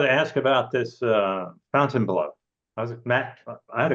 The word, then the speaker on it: Fontainebleau: other players clubs so what's the deal with Fountain blow well you know good for you you pronounce it properly Fountain blow is really the way it's the French pronunciation